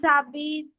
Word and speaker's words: habitent: Okay, no we don't pronounce the H, you're right, it's silent.